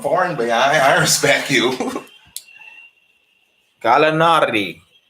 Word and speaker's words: Gallinari: Gallinari. I gotta see him fitting. That's how you say his name.